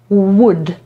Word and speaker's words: would: I owszem, jest tutaj ta literka L, ale my jej nie wymawiamy. Dlatego przeczytamy to jako would.